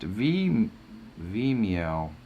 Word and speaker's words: Vimeo: It is pronounced Vimeo.